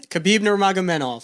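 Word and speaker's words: Khabib Nurmagomedov: Khabib Nurmagomedev.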